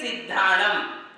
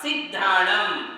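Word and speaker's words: सिद्धाणं: पढ़ते समय, उस जोड़ अक्षर को पढ़ते समय नियम यह है कि उसके पहले वाले अक्षर पर हमें जोर देना चाहिए। जैसे सिद्धाणम, तो ध और द ये दो व्यंजन एक साथ आए हुए हैं, उसे कहते हैं संयुक्ताक्षर। तो सी के ऊपर आपको जोर देना पड़ेगा, सिद्धाणम।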